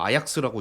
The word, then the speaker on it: AJAX: AZ ajx라는 이름을 붙였습니다 저는 이제 그냥 계속 말하시면 에이젝스라고 읽고 많이들 이렇게 읽는 거 같은데 이제 뭐 축구팀도 있어서 뭐 아약스라고 있던 사람도 있고 뭐 그랬던 기억이납니다 그리고이 agx의